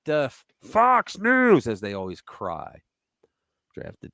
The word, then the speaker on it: Fox News: But they always go Fox News and they stop news. They realize that the X is silent.